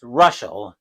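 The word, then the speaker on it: Reuschel: Pronounced Ruschel.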